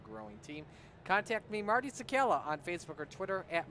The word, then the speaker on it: Czekala: valuable to a growing team, contact me, Marty Sakala, on Facebook or Twitter at Marty Sakala. That's spelled CZEKALA.